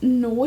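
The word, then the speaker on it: Noix: i'm gonna guess it's noi is how you pronounce it i'm thinking like lacroix but it's n-o-i-x and it's got of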